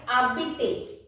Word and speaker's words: habiter: Next one is habiter. H-A-B-I-T-E-R. Habiter means to live. Habiter, here H is silent. I have told you silent H is considered as a vowel in French.